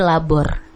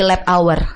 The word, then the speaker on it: Labour: Nah, kenapa namanya Kopi Labor? Ini kan tulisannya LABOUR. Aku kalau lewat tuh pasti bacanya Kopi Lab Hour. Iya. Kalau kita sih apa tadi Najil? Labor.